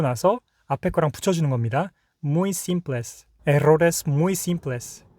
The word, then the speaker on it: simples: 만약에 내가 simples라는 발음이 이상해요. 그래가지고 simpless 막 이래요. simpless. 그러면 시 고쳐야 되잖아요. 그럼 요거를 연습하는 거죠. simpless. simpless 고치고 나서 앞에 거랑 붙여주는 겁니다. muy simples.